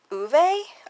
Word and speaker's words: Ove: a piece same with a man called uve I'm pretty sure is how you pronounce that I read this one